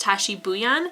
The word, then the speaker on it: Tashie Bhuiyan: I looked up the author's pronunciation, and I believe it's pronounced Tashie Bhuiyan, so if that's not how it's pronounced, I apologize.